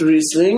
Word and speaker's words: Riesling: It's pronounced Riesling, and this is Charles Smith's version of it.